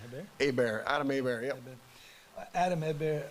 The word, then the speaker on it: Hebert: We'll listen to, how do you pronounce his last name, Hebert?